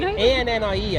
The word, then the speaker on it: Annie: They're both pronounced the same way. A-N-N-I-E and A-N-Y.